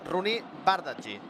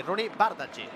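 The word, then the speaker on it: Roony Bardghji: No, mira, m'indica el meu bon amic Marc Andrés, gran professional, que la pronúncia és Rooney Bardghji.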